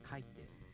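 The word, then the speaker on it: 書いて: verb kaku turns into kaiten and kaita so the accent falls on ka kaite if a downstep type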